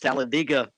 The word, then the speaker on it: Talladega: is pronounced and might remember it's pronounced talladega down there in alabama i would not want